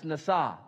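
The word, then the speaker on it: נשא: a word for that it's nasaw and I like that because if you phonetically spell nasaw it is na sa or nasa and having spent time in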